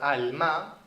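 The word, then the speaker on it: עלמה: Es interesante que la palabra virgen en hebreo, que es pronunciada como alma, proviene de la raíz alam, oculto.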